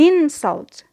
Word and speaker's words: insult: But when it is a noun, we say an insult. An insult. Those rude words are called an insult. Here we notice that the stress is on the first syllable. But here, I want you to notice that we have only changed the stress placement. There is no vowel quality change.